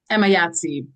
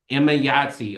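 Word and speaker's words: Emayatzy: Emma Yahtzee. Emma Yahtzee. Okay, I always see her name. I didn't know how to pronounce it.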